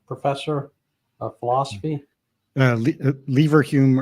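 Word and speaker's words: Leverhulme: so and you're the Lal hum professor of philosophy uh lever Hume early career fellow they have funny pronunciations in the UK so fair enough or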